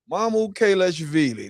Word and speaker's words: Mamukelashvili: Mam Kalashvili. That's how you say it is name.